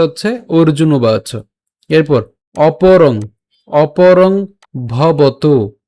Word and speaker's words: অপরং: শ্লোকের যে লাইনটা রয়েছে, এই লাইনের মাঝে কোনো শব্দের সাথে যদি অনুস্বার থাকে, সে অনুসারের উচ্চারণটা কিন্তু অনুসারের মতোই হয়, অর্থাৎ উচ্চারণ অপরং হবে, অপরম হবে না, অর্থাৎ ম হসন্ত হবে না। এর উচ্চারণটা অনুসার অনুসারের মতোই হবে, অর্থাৎ অপরং উচ্চারিত হবে।